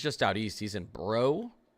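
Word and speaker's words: Breaux Bridge: He's in Brobridge. Is this called? Bro Bridge. I know that's pronounced Bro.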